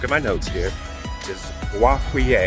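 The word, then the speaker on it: Boisfeuillet: my notes here this guava which i believe is french or at least it sounds french he himself preferred to pronounce it bo filet buffalo and he was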